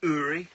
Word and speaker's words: Uri: I can't say that his name is pronounced hurry hurry I'm bent what on